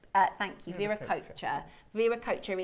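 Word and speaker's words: Viracocha: Ver coacher Viracher is the pronunciation of the god.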